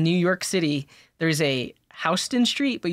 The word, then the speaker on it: Houston: York City there's a Houston Street but you pronounce it Houston not Houston do you know what